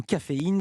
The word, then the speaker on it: Cafeyn: Présentez-nous Caféine, ça s'écrit comme de la caféine, C-A-F-E, mais ensuite c'est un Y et un N, il n'y a pas de E à la fin.